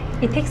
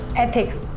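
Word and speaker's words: ethics: इथिक्स नहीं, एथिक्स, ऐसे pronounce करो।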